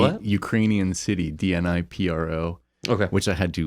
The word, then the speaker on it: Dnipro: Ukrainian city, DNIPRO, Okay. which I had to look up the pronunciation before this because I was like, it's not DNI Pro, it's Dnipro.